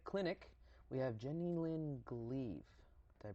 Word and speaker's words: Gleave: a medical cosmetic clinic we have Jenny Lynn gleave do i pronounce it correctly that's corrected this time it's